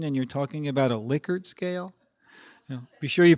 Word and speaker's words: Likert: the community the research community you'll hear people pronounce that word Likert but you see I'm so far advanced intellectually